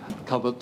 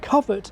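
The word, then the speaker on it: covert: But frankly, I think it's ludicrous of Wictionary and the online Oxford Learners Dictionary to tell people in this day and age that coveret is still the preferred pronunciation in Britain. I mean, it's not as if the dominance of the new pronunciation is a secret.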